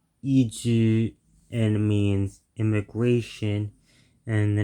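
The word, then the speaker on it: 移住: So after looking it up, I found out that this word is pronounced Iju and means immigration, and the next word is Koro, meaning around time speaking.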